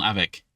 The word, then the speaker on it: avec: Il a ses affaires avec lui. Ooh, very, very close. Yeah, you got it right. Just the one detail. Actually pronounce the C on avec.